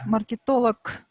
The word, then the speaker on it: маркетолог: и на нем звук маркетолог да хотя в рот хотя в русском языке звучит звонкой но как раз к произношение оглушает маркетолог поэтому маркетолог пэн economist